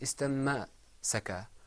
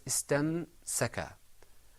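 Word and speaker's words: استمسك: It wasn't istamma-saka or istami-saka or istamu-saka. It was istamsaka.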